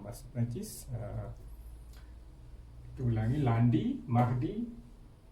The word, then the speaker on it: mardi: Selasa, mardi, M A R D I. Mardi. Okey. Lundi, mardi. Rabu, mercredi. Mercredi. Mercredi ejaannya M E.